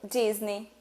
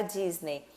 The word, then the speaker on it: Disney: Então, se termina com a Y, a gente fala E, certo? Disney. Só que, na verdade, quando você, né, for pronunciar, for falar alguma palavra que termine com EY, sempre você vai falar com o sonzinho do E. I. Então, é como se não tivesse o E, tá?